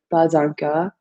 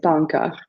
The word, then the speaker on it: pas encore: And sometimes French people, it depends on what region you're in, they will pronounce this S and make a liaison, so ne pas encore. And then other places will say pas encore.